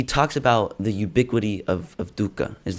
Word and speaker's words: dukkha: okay, and so to ask the first question, he talks about the ubiquity of dukkha. Am I pronouncing that right? You are pronouncing it beautifully.